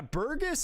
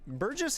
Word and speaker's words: Burgess: good run though good try good try yeah burgus is Burgess is menacing Burgess Buress got to get my pronunciation guide back out Burgess is crazy it